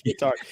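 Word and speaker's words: Whittard: Wittard? What did you call me? Wittard. Yes, it is Wittard.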